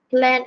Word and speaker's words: plant: So this Amira, is tak sebut plan, ejaan dia sama macam plan tapi dia sebut plan. plant. Okay. Plant and machinery, bila plant bukan plan dah jadi pokok.